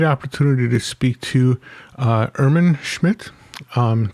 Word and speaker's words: Irmin Schmidt: to speak to uh ehrman schmidt um that's not the german pronunciation but it's as close as i'm going to get to it um it's perfect oh